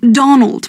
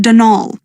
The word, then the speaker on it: Donal: the caretaker denal Delaney not Donald mind you there's no D at the end so it's pronounced denol that's the way you're